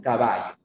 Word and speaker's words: caballo: que no haya ya pero nosotros pronunciamos esto no caballo es la pronunciación de toda la costa peruana de la selva y casi casi ya también de toda la sierra bien el yeismo se